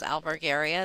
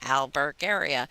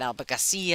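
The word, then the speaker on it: Albergaria: do you say it and it's phonetically it's just you know Al Burke area it's exactly how it's spelled but you know they put a c in it they make it Alba Garcia and all of a sudden you know it's not Portuguese anymore now it's Spanish and uh so but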